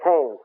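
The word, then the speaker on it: Keynes: John Maynard KES ke y NES KES it's pronounced John Maynard KES Marx ruled the Socialist world and KES ruled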